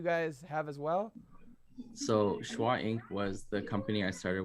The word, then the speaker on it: SHWAINC: Am I saying it right? Is it Schwa Inc. or is it Shwainc? What is it? Schwainc. Schwa Inc. All right, I figured Yeah. it was. I don't know why I said Shwainc.